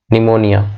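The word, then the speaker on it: pneumonia: Letter में cause, बाद में क्या हो सकता है, लेटर में काउज निमोनिया, बाद में जो है निमोनिया हो सकता है इसके कारण, PNEU, है ना, निमोनिया का स्पेलिंग P से शुरू होता है, PNEUMONI, निमोनिया, बाद में जो है निमोनिया काउज कर सकता है।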